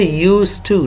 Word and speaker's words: used to: d is not red it is not pronounced it is written it is spelled but it is not red you will say used to not used to so